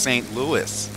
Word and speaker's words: St. Louis: Why is the city pronounced St. Louis?